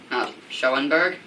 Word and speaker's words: Schoenberg: home now hi like dad but should still be pronounced Schoenberg Oh Schoenberg some people pronounce it that way what's wrong